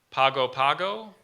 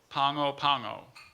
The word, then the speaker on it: Pago Pago: real oh and its geography oh cool okay Pago Pago or Pongo Pongo I'm pretty sure that's the real place yeah